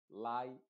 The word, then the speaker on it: lie: En la combinación IE, esa E es completamente muda y la I se está pronunciando con su sonido original que es I.